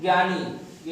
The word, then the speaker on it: ज्ञानी: ज्यादातर लोग इसके उच्चारण में गलती करते हैं, ज्ञानी ये ज्ञा बोलते हैं, ज्ञान ही ज्ञा होता है, ज्ञानी बोला जाता है ना।